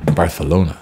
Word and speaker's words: Barcelona: pronunciation for Barcelona is Barcelona that's how they speak in Catalonia where it is I